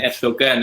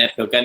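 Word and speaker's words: Erdoğan: Recep Tayyip Erdogan, bukan Erdogan. Erdogan itu orang Jawa berarti yang baca Erdogan kayak baca Mendoan lah kira-kira gitu ya, Erdogan.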